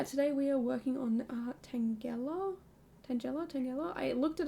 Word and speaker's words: Tangela: Uh, but yeah, today we are working on Tangella. Tangella. Tangela. I looked it up before. I'm pretty sure it's Tangela. Um, I looked up a video pronunciation and it said that way.